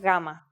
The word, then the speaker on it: gamma: it like a g but it is softer more like the Y sound in you or young here's the uppercase form of gamma gamma and here's the